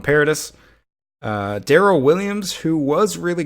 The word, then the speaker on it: Paradis: I think his name is pronounced Parody, but I'm just going to keep calling him Paradis.